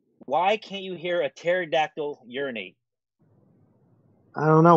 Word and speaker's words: pterodactyl: can't you hear a pterodactyl urinate I don't know why because the p is silent come on you just